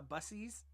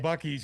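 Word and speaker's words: Buc-ee's: Bucky's. You need to go to a Bucky's. that is how you say that. It's not bussies.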